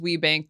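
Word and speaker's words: WBENC: Business Enterprise National Council it's pronounced we bank they to this day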